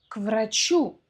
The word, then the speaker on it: к врачу: Они идут к врачу. Что такое к врачу? К врачу. Но произносим это в одно слово, на одном дыхании.